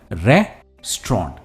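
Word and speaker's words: restaurant: हम रेस्टोरेंट नहीं कहते ये है रेस्टोरेंट सिर्फ टू सिलेबल वर्ड है और स्ट्रेस पहले सिलेबल पर है रे पर है रेस्टोरेंट से इट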